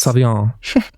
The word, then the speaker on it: Savon: they have a product called savan is that how you pronounce it it is Savon um there are some